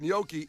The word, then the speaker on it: gnocchi: to the NBC Tower and said that gnocchi is a potato, even though, so Case, it's wrapped, it's like mashed potatoes wrapped in a pasta.